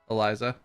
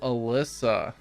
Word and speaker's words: Alyssa: Is it Eliza or Alicia? Or how do you pronounce it? I don't want to keep butchering your name all night. I apologize. Oh, Alyssa. Oh, I'm sorry. I've been butchering it. I'm sorry about that. Like Alyssa Milano.